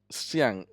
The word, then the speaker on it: 相: So it has to do with, for example, you might have heard of physiognomy, which is pronounced xiang in Mandarin.